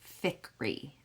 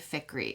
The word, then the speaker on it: Fikry: the storyed life of AJ ficky I believe is how you say it f i k r y of AJ ficker and like I said